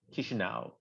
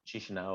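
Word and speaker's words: Chișinău: So this is pronounced Chisinau, not Chisinau, or different pronunciations.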